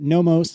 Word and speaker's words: Nomos: Marco said then that Nomos, is that pronounced correctly?